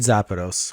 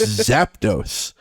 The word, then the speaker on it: Zapdos: color I I did zapados which is uh intin you keep adding an extra syllable it's Zapdos I did I really do